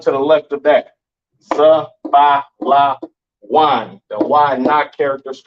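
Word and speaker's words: זבולון: Pronounce Zabalawan in the Hebrew, Zabalawan in the Hebrew, all right?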